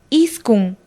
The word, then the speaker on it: iskun: Los números 9 y 10 se pronuncian de la siguiente manera. 9, iskun. 10, chunga.